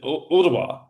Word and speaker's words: Ooltewah: to Chattanooga is uh but I'm going to mispronounce it too, Barbara, I'm sorry. Is it Ooltewah, right?